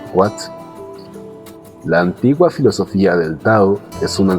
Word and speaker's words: tao: La palabra tao, que se pronuncia casi como se escribe, pero con un sonido suave de la t, le ha prestado su